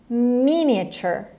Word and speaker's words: miniature: خب اگه کلمه رو بخوایم با تلفظ فارسی بخونیم میبینیم نمیشه مینیاتور، همون چیزی که ما میگیم مینیاتور. شنیدین میگم مینیاتوری یعنی خیلی کوچیک، ریز. Represented on a small scale. خب میخونیمش miniature.